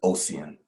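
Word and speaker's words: Ossian: So the some people call them a some people pronounce it Oian, Oian, and Ocean, but the family uh prefers Oian.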